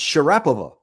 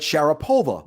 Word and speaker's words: Sharapova: He said, "Well, in Russia, her name is actually pronounced Sharapova, but but you Americans started calling it Sherupova." Oh, wonderful. And so, at one point, someone asked her, "How do you want your name pronounced?" And she said, "Go with the American one."